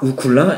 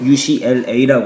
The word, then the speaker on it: UCLA: 유시티 오브 캘리포니아 로스엔젤레스를 UCLA 하거든요 그런데 이것을 옥이는 우클라 발음을 한 거죠 클라가 아니라 미국에 있는 대학교인 UCLA 아아 자 MIT 가리키면서